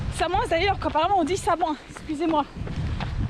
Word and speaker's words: Samoëns: Samoins d'ailleurs, qu'apparemment on dit Samoins, excusez-moi. On ne prononce pas le S.